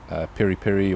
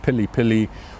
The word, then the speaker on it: piri piri: an african bird's eye piri piri or pilipili or peri-peri there's lots of different ways to pronounce it but all the same thing it's an african